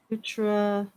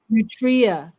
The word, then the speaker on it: nutria: Nutra rat. Nutria. Yeah. Well, that's probably the correct way to pronounce it. I think what we have is more of a colloquial term.